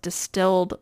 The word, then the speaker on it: DSTLD: It is, I think it's pronounced distilled, but it's DSTLD.